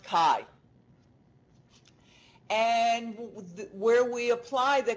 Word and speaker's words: chi: Chi-square it's pronounced chi, but it's spelled C-H-I.